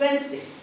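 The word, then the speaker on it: Wednesday: सो, द B letter D is silent. It's वेडनेसडे।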